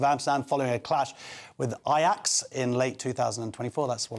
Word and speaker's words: Ajax: So after clashes on the streets of Amsterdam following a clash with Ajax in late 2024, that's what I've learned now how to pronounce it.